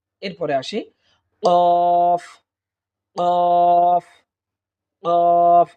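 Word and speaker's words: قاف: এরপরে আসি কফ কফ কফ, অর্থাৎ জিহ্বার গোড়াটা উপরের তালুর সঙ্গে লাগিয়ে দিলেই আমরা কফ হরফটি আমরা পেয়ে যাব।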